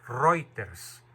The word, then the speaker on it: Reuters: dije de la agencia reuters se escribe reuters se pronuncia reuter el periodista Alessandro Bianchi